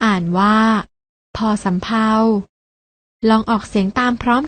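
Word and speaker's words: ภ สำเภา: พ พาน พยัญชนะ ตัว ที่ 2 อ่าน ว่า พ สำเภา ลอง ออก เสียง ตาม พร้อม กัน นะ คะ พ พาล พ สำเภา พยัญชนะ ที่ มี การ อ่าน ออก เสียง เหมือน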